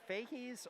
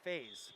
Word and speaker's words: Faze: I've been saying either Fahies or Faze. Someone correct me here. Brody with a 27-36, Leonard a 28-41, Cormac Hughes a 29-12. Those are your top 3. I gotta ask Brody when he comes by, where is Brody? I think that's Brody. All right, I was saying it right. Faze.